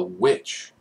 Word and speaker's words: The VVitch: The Witch, which is spelled with two V's.